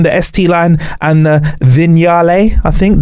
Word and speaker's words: Vignale: The titanium, the ST line, and the Vignale, I think. The Vignale. So I was saying it wrong on holiday.